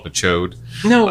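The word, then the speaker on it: Ch'od: He's like giant amphibious, but his name is Chode, which I always pronounced it as Chad.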